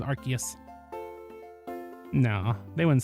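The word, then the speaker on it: Arceus: It's Archus. No, pretty you're canonically incorrect about it being arcus. I'm pissed off about it as well, but it actually is Archus.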